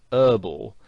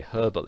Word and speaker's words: herbal: Now in American English, the word herbal has the H silent, so they pronounce it herbal.